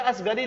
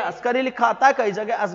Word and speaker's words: अस्करी: असगरी लिखा आता है, कई जगह अस्करी लिखा आता है, कई जगह असगरी लिखा आता है, ठीक है ना, ठीक। अस्करी या असगरी, अलग अलग इतिहासकारों ने अलग अलग नाम से इसको प्रोनाउंस किया।